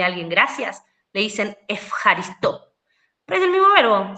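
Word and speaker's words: ευχαριστώ: En griego moderno esa eu no se pronuncia eu, sino que se pronuncia f.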